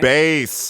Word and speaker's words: Bass: A lot of people pronounce it bass like the fish, but it's spelled the same as bass like the instrument, and considering his line of work, just makes a lot more sense.